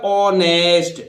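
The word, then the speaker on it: honest: पहला अक्षर है देखिए एच ओ एन ई एस टी तो देखिए एच के तुरंत बाद ओ आ रहा है इस ओ के कारण इस एच का उच्चारण नहीं होगा इसलिए कैसे बोलिएगा ऑनेस्ट और ऑनेस्ट आप जानते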